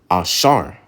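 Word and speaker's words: אשר: number 10 Asher which in the Hebrew is Asar Asar all right in the Hebrew was the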